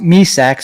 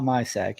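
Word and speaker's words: Myšák: on my Dynasty team pronounced me sacks spelled my sack okay guys so yeah you remember him now you're sack yeah not my sack you're Sack or the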